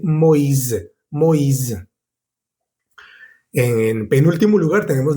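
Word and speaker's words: Moïse: Ya no va a ser wa, sino o i. Por ejemplo, en el nombre Lois o también en el nombre Moisés. En francés se dice Moiz.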